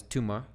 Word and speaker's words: tumor: it's there's a there's there's the difference because otherwise tumor tumor is a is one word so stress can also